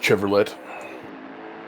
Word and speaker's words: Chevrolet: of herbie herbie actually i believe that's pronounced chevrolet chevrolet it's the it's the dutch pronunciation saving you jenny